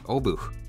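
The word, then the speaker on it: Obuch: tell it's pronounced the obu with a small exhale at the end of the word taking a look at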